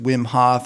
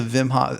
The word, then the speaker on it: Wim Hof: recently that obviously with Wim Hoff I've been kind of tracking his stuff for a while so Vim Hof actually it's probably pronounced Vim um uh and tracking